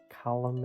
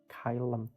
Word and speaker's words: Caelum: tutorials today i'm looking at tape pro by kylem audio and that is the right pronunciation because i have checked with the developer so it's not column it's not klm it's kylum i do try to get developers names right